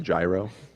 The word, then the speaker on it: gyro: got me that beef euro with french fries god bless america it's pronounced gyro are you [ __